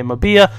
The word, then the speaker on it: Mbia: But then we got Mbia, or Mabia, however you guys want to pronounce it. I say Mbia, people say Mabia, but he's out of Marseille in the League One.